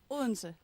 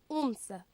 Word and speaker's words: Odense: And last but certainly not least, how do you pronounce the name of the city? Odense. Odense.